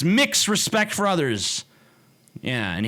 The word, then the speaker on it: Mx: MX respect for others MX how the am I supposed to pronounce that mix it's mix respect for others yeah